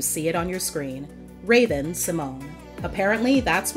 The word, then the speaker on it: Raven-Symoné: classic Disney Channel intro, where she says her name the way we've known it to be. The whole time, I'm Raven-Symoné and you're watching Disney Channel. You could have said it right, cause how they gonna make you say your own name wrong?